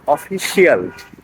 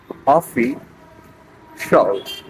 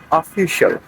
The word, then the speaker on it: official: তাহলে আমরা বাঙালিরা বলি অফিসিয়াল। This is নট the correct pronunciation. আপনাকে অফিসিয়াল বলা যাবে না, আপনাকে বলতে হবে অফি শল। শিয়ালকে মেরে শল, অফি শল। So the correct pronunciation is official, official, official, official members, official members.